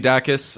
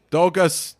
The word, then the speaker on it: Dacus: thank the Lucy and he definitely said her name wrong like dogus band thank you for